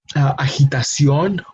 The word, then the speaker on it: agitación: Agitación, which is agitation, and notice how the pronunciation may be very similar, agitation, agitación, but the sound, especially the sound of the letter G, is very different, no? From a G sound to a he sound, no?